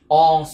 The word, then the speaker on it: all: Được cho all students, tất cả mọi sinh viên là số nhiều cho nên dùng are. À, ngôi thứ ba số nhiều. All là chứ không đọc là on nha, không đọc là on